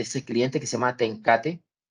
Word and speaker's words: TenCate: cliente que se llama tencate así como se escribe se pronuncia es una corporación neerlandesa